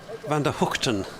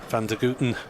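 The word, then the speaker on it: van der Gugten: again a while ago that is the original dutch pronunciation although g means h he is uh frequently known as vander van der guten among some of his teammates even having uh been born and raised in australia okay bit of a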